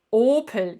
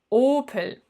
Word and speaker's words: Opel: Na, wie spricht man das richtig aus? Opel, genau. Opel.